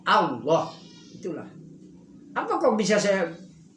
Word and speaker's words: Allah: Jadi disebutnya Allah, tapi tulisannya Allah. Tulisannya Allah. Tapi dibacanya bukan Allah, tapi Allah.